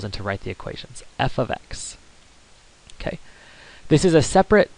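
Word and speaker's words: f(x): Again, you pronounce it f of x. This is not multiplication, but instead f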